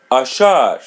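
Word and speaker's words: achar: Ashar ashar. Repeat part of the part. A Ashar Ashar The letter R is pronounced as English R ashar.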